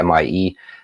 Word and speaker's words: Mie: You don't have that effect as much with C-band because of something, I don't even know how to pronounce it in English. MIE scattering is what I would say, MIE.